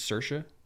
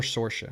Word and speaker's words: Saoirse: I think it's Saoirse. I think that's how it's pronounced. Saoirse Ronan. Saoirse Ronan. I'm pretty sure it's, or Saoirse, but I'm pretty sure it's Saoirse.